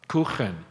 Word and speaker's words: Kuchen: It was a German coffee cake, and I would say, "You Kuchen?" And she'd, "No, Kuchen. You got to say it right."